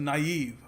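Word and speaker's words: naive: कई जो English teacher मैंने देखा है को नाइव नाइव पता नहीं क्या कह देते हैं, I don't even know to pronounce it, इट is pronounced नाइव, ठीक है।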